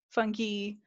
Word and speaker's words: fungi: wanted to be right so you can be fungi fungi funky fungi if you go with the classical roman pronunciation classical latin it's funky um doesn't really matter no one will no